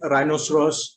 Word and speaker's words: rhinoceros: Even words beginning with RH, the H can be silent. Rhinoceros, rhythm.